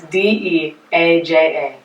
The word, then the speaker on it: Deaja: to spell it. It's Deaja.